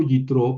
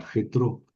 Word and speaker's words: Yitro: Yo le pongo Yitro porque así habría que pronunciar y las biblias en español ponen con J get jetro como Yjoshua.